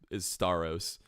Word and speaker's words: Staros: Yes, I think his name is Staros. He said he's accepted both, but Staros is the way that we've been pronouncing it.